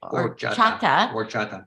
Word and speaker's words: Horchata: Horchata. The H is silent.